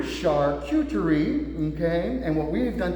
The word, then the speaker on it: charcuterie: beautiful candy how do you say it again charcuterie charcuterie okay and what we've done today is we've